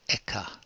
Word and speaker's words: ECHA: the European chemicals agency European chemical agencies pronounced eka begin watching about fourteen